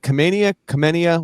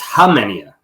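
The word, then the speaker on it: Khamenia: Nicholas, is it Kamenia? What? K is silent. It's Hamenia.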